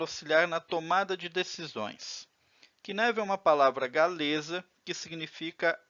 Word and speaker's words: Cynefin: na tomada de decisões que neve uma palavra galiza que significa habitat ea pronúncia mais próxima em português seria que neve vamos construir o flamengo